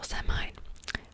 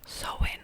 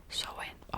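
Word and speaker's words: Samhain: maybe halloween but it's also semi pronounced so sawing oh have i been pronouncing it wrong my entire life sew in really so in okay awaken witch's new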